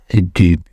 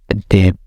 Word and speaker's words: debut: So now it's debut. I think it's original French, maybe. Debut. 1 minute. Debut. Okay, it's British. What about American pronunciation? Debut. Okay, British and American accent though doesn't care about T.